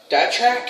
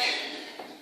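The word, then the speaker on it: Datrek: It's from DATRAK, DATRAK, D-A-T-R-E-K. If I said it wrong, at least I spelled it right. D-A-T-R-E-K. So Dark Track.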